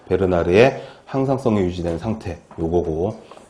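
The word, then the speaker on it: Bernard: 클로드 베르나르라고 하는, 이게 프랑스 사람이랍니다. 그래서 버나드라고 읽으면 안 되고 베르나르라고 읽어야 된다고 출판사 사람이 알려줬는데, 암튼 이 양반은 항상성, 호메오스테시스, 항상성을 건강의 그 조건으로 이야기를 했다라는 겁니다.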